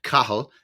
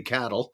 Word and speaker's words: Cathal: My real name is Cathal, Cathal, which is Gaelic for Charles. Oh. Because in Ireland, when we came to Canada, they were calling me Cattle because they couldn't pronounce